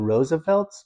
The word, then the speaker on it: RSVLTS: It's called the Roosevelts, but it's spelled RSVLTS.